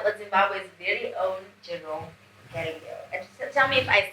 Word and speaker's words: Galiao: No, it's Galiao, it's Portuguese. Like how you say Ronaldo.